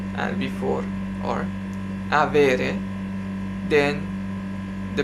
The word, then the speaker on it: avere: to have the infinitive the present infinitive is avere the accent is on the e after v and before or avere then the pronounces are i from the first to the